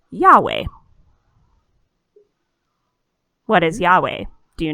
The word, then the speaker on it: Yahweh: we have written here it's y-h-w-h but that's pronounced yahweh what is yahweh do